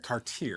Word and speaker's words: Cartier: And it's Cartier. Cartier. It's spelled exactly like Cardier, right? But there's a big I mean in Letington if you say Cardier, you will be corrected very because they all knew the Cartier family.